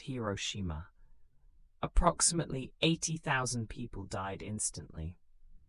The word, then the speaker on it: Hiroshima: On August 6th, 1945, an American aircraft dropped an atomic bomb on the city of Hiroshima, pronounced Hiroshima.